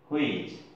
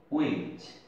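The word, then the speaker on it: which: ডাব্লিউ এইচ আই সি এইচ, দেখেন ডাব্লিউ পরে এইচ আছে, তাহলে এটা আমরা সচরাচর বলি হুইচ, এটার উচ্চারণটা হবে উইচ, এইচ এর উচ্চারণ হবে না, হ্যাঁ এইচ অনুচ্চারিত থাকবে।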